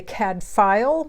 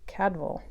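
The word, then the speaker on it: Cadfael: fabulous brother cadval Chronicles I know we say CAD file but did you know that the actual pronunciation was supposed to be cadval anyway I've been reading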